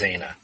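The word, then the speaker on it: Xana: you were with, and I think her name's pronounced Zana.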